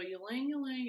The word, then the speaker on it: ylang ylang: Called, oh, it's not Y, it's pronounced like E. So ylang ylang. Ylang ylang.